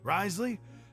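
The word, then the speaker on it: Wriothesley: You've already met the one person here you should never cross, the Duke, Risley. He knows more than you think. And if he doesn't care about Rightly, something, then अच्छा ऐसे he इसको pronounce often करते हैं.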